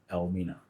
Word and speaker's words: Elmina: language meaning the M but through the pronunciation of the name Al minina by the locals the name was corrupted into Elina but the original name